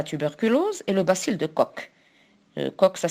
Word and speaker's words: Koch: micro provoquant la tuberculose et le bacille de coke comme ça s'écrit coche et ça se lit comme des